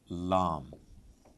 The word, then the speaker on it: Lam: And then you are, come to, thankfully, simpler letter Lam. I say simpler because it's just L.